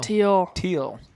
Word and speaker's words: Thiel: Thiel. Is it Thiel or Teal? Teal. Teal.